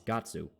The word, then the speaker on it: Guts: to the language barrier the Japanese name for guts is gatsu but that's not how you say his name in English and Shri is a